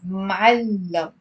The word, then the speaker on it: معلم: So it's معلم. It's two syllables. It's not معلم. It's معلم.